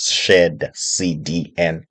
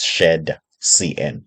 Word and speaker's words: shadcn: most people they confused um they always uh pronounce Shar CN as Shar CDN okay it's a common mistake um for me